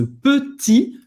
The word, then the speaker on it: petit: Faz a boca do O e fala E, petit, acaba no I, não pronuncia o T no final. Ce petit. Então presta atenção, não é petit. Não. É petit, mais fechado, ok?